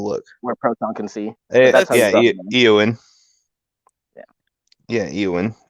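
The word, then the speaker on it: Éowyn: Eowyn. Yeah, Eowyn. But that's still like Eowyn, because you drag out the E.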